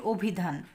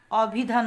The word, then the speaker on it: অভিধান: আমি এখানে লিখেছি অভিধান আমরা কিন্তু বলি অভিধান অভিধান বলি না অ এর মত উচ্চারণ করি না অনেকটা ও এর